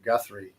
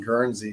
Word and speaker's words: Guthrie: then somewhere in Oklahoma I keep saying it wrong Guthrie Guthrie I kept saying Guernsey but that's actually Wyoming